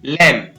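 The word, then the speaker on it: lamb: इसी प्रकार डम, यहाँ पर इसको पढ़ेंगे D-U-M, D-D-M, डम, बी साइलेंट रहेगा। इसी प्रकार लैम, L-A-L-A और म, लैम, बी साइलेंट हो गया, लैम।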